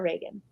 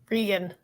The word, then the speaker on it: Regan: Is it Regan or Reagan? Regan.